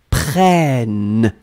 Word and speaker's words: prennent: the last form, you will double this N, and so it will impact the sound of the E that is right before. It will open the sound. You will pronounce it like E, prêt, okay? Ils, elles, prennent, okay? Ils prennent, elles prennent. So one more time, nous prenons, really E, vous prenez, ils, elles prennent. Really open. You don't need to pronounce any double N. You just open the E.